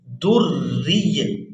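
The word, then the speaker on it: دُرِّيٌّ: کے ساتھ پڑھیں گے، را یا دیر ری، در ری، در ری، یا دو پیش یویں، در ری یوقد، کوکب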